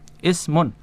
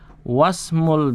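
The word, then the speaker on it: اسم: Hamzah wasal itu kalau di depan tidak dibaca. Kalau di tengah-tengah suatu ucapan dia eh kalau di depan dia dibaca. Kalau di tengah suatu ucapan dia tidak dibaca.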